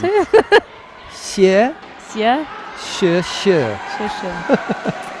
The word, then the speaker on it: Xie: Violeta Dimitru of Romania and Shi of Yeah, China. That's a Is that how you difficult pronounce one. it? Xie, Yeah.